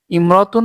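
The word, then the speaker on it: امرأة: আগে অন্য শব্দ হলে ইমরাতুন শব্দের আগে অন্য শব্দ হলে আলিফটি শুধু লেখায় আসে আলিফটি শুধু লেখায় আসে উচ্চারণের সময় আসবে না যেমন হিয়া ইমরাতুন হিয়া ইমরাতুন এটা হিয়া ইমরতুন ইয়াতে জবর আছে যে কারণে এখানে আলিফের উচ্চারণটা থাকবে না হিয়ামরাতুন সে একজন মহিলা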